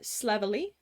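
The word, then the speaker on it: Slavily: It's uh Slevery. It's spelled S L A V I L Y.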